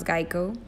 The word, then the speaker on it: GEICO: Many people used to mispronounce Geico, calling it gecko, which makes him the perfect mascot to represent them.